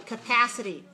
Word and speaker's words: capacity: how about this one capacity capacity how many syllables capacity four syllables right where's the stress second okay so that one